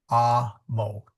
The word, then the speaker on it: amo: So if you know the word amo, which means I love in Latin, it is pronounced amo, not amo.